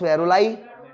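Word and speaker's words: Varolii: VAROLI, VAROLI, इसे कहेंगे वेरुलाई, VAROLI, वेरुलाई। तो ये हो गया पॉन्स वेरुलाई, ठीक है, क्लियर है।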